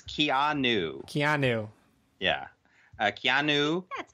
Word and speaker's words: Keanu: And they make fun of Stu because he says it to rhyme with piano. Keanu. That sounds right in a way, too. Don't confuse me. It's Keanu.